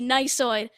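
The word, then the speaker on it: gneissoid: i actually got it so the silent g to start the word i mean and then not only that there's an e i and then there's a double s yeah i'm done i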